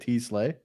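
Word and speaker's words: TeSlaa: And he'll have some stuff before that too, but I have no idea how to pronounce his name. So I was like, is that how you say it? T-Slay?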